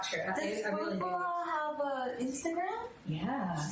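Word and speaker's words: Fou Fou Ha: Foo-Foo-Ha have Instagram? Yeah. How do you spell it? It's FOU Oh. space FOU I already messed space that up. HA. Okay. Foo-Foo-Ha.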